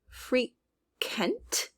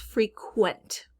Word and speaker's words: frequent: the second syllable and i believe we're not just hearing free kent it's frequent we're really leaning to that u sound qualify qualify there it